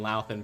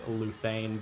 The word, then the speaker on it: Dylan Laan: year was getting Dylan Laan back. Uh, I've been saying his name wrong for the last couple of seasons with Leuthane, but they were told me it's like it's Lan.